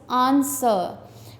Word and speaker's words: answer: Answer, answer में W silent है.